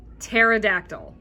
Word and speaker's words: pterodactyl: words is the way you say it is pterodactyl P Asylum p is silent why did we put it there we